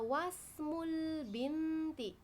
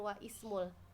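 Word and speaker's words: وَاسْمُ الْبِنْتِ: Maka cara membacanya wasmul binti. Wasl itu kayak disambungkan ya. Jika ada huruf sebelumnya, nah maka disambung, bukan wa ismul.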